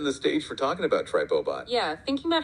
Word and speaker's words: TripoBot: You know, reading it, it did kind of sound like Triplebot in my head. But looking at the Triplebot pronunciation guide excerpts, you are absolutely right. So, it's Tripot with the emphasis on the trip, right?